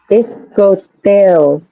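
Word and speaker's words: iskotêw: This could be like 3 syllables or 2 syllables, depending like your fluency, like how much you need to break it down. Iscoteo or iscoteo. Iscoteo. 2 syllables. Isko and deo, or isko deo.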